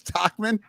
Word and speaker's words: Tauchman: Nobody can pronounce it. Yeah, but he's also Tauchman. got 3 at bats. It's Tauchman.